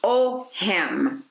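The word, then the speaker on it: Ogham: ancient celtic language and it is pronounced o him now i want to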